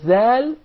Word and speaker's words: ذال: So make sure that we do not confuse the ذال with the زاي. Yes. That happens when you do not stick the tip of your tongue out of the teeth. So say أز.